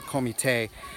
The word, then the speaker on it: comité: We call them a comité. That's how they pronounce it in Portuguese, a comité.